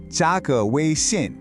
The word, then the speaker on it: 加个微信: 加个微信. It's just 3 syllables, but I'm telling you, this phrase will completely change your social game in China.